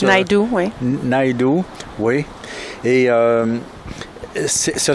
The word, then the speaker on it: Naidoo: Comment on prononce? Naidoo, oui.